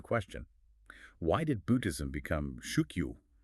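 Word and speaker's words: 宗教: Why did Buddhism become shukyu? That's pronounced shukio, the modern Japanese word for religion, but rice cultivation did not.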